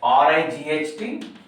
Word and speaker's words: right: Here HIGH, ALMS, next RIGHT, PALM. So please pronounce this word high, HIGH. In this word, the silent words are GH. Arms, LE silent word. Right, GH silent word.